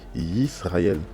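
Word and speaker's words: ישראל: Donc là, c'est marqué Yisraël. Mais bizarrement, ici, on a un Sheva. Mais le Sheva ne se prononce pas. Pourtant, ça peut valoir le son E, mais ça ne se prononce pas. Bah, parce que c'est un Sheva Nar.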